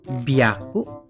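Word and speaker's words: びゃく: Tapi kalau ketemu 3, 6, 8 perubahannya beda. Yang 3 jadi b, byaku. Ini kan hya jadi bya sekarang. Kalau yang 6 jadi p, pyaku.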